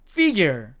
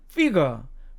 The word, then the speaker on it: figure: 자, 두 번째 단어도 미국식 발음으로 가면 figure, figure 이렇게 되지만 영국식으로 가면 figure, figure 이렇게 됩니다.